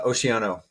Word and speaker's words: Oceano: last name how do you say it uh oiano oiano okay um pretty much currently you're running